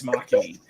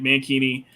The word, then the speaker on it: Makini: You can say it however you like, but if you want to say it properly, it's Makini. Makini, okay, yeah. Okay. You learned it from Mad Mardigan. The same man. Like I've heard different names like Mankini.